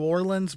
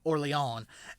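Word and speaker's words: Orléans: So, she is most famously known for helping the French win the siege of, it looks like Orleans, like New Orleans, but it is, I think, pronounced Orleans or something like that.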